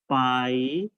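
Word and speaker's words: pi: तो सर्कमफ्रेंस के लिए simply here you right 2 पाई आर, ठीक है, 2 पाई आर। अब इसमें देखो ये जो वी, उल्टा वी करके ऐसे जो लाइन होता है इसको हम प्रोनाउंस करते हैं पाई, ठीक है, इसको हम पाई प्रोनाउंस करते हैं।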